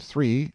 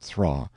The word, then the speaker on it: three: spoke up and said the peasantry pronounced the word three not thraw it was an error of